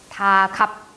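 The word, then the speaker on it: 닭 앞: 다갑. 앞이라는 게 실질 형태소죠. 앞이 실질 형태소이기 때문에 각각의 의문변동부터 적용시켜줘야 합니다. 그래서 자음근 단수나 적용시켜주고요. 앞, 음절 끝소리 규칙 적용시켜주고 그대로 연음을 해서 다갑이라고 해줘야 돼요.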